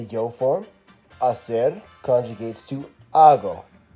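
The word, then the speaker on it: hago: form acid conjugates to AH go when you're spelling it out don't forget the silent H at the beginning of the word on some verbs we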